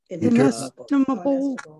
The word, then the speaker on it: inestimable: How do you pronounce that? Which what the interpreters of ethics? Inestimable.